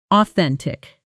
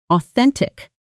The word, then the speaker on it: authentic: That's the same soft thuff from thorough earlier, right in the middle of the word. Slowly. Authentic. Fast. Authentic.